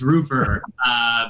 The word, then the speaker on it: Roofr: It's Roofr, but Okay. it's like, honestly, tomato. A lot of people call it Roofr.